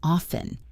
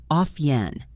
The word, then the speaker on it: often: But in modern British and American English, the standard educated pronunciation is often. The T is silent. Often. Like off plus N.